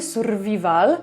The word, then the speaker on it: survival: z takiej spolszczonej wersji survival to serio nie rozumiałam w ogóle o co tutaj chodzi. Potem już jakby się przyzwyczaiłam do tej polskiej wymowy, ale to nie będzie survival, tylko survival.